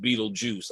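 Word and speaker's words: Betelgeuse: It looks like Beetlegeist, but it is pronounced Beetlejuice.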